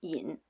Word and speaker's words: 㐆: In oracle bone script, there is a component resembling the character "身" or its inverted form ("㐆," pronounced yǐn), which looks like a person with a protruding belly.